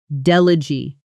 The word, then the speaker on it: delegate: But as a noun, meaning a representative sent to a meeting or conference, the stress moves to the front and that final vowel softens into an it sound. Delegee.